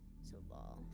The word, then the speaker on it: Saevel: Saval? It is spelled Saevel. Ow! Okay, hold on. I hit my elbow. Okay. S-E-V. Saevel. Okay. Saval. Alright.